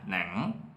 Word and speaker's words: Nẵng: And for this tone, the waving tone, they pronounce like this, Nẵng. nặng. For the south, it's the same as nặng.